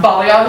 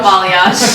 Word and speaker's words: balayage: I do like I always pronounce this wrong. Balayage? Balayage. I was like, I'm not gonna say it. But balayage. I always say balayage.